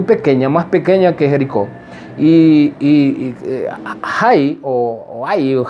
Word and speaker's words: Hai: Pero había una ciudad muy pequeña, más pequeña que Jericó, Hai, Hai, creo que se pronuncia en la Biblia, ¿verdad? Se escribe con H-A-I.